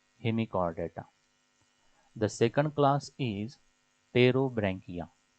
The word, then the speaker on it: Pterobranchia: The second class is Pterobranchia. The P is silent here. Pterobranchia.